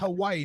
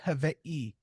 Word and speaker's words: Hawaii: Um Say I had a Hawaii, I had a not friend it's Hawaii, not Hawaii.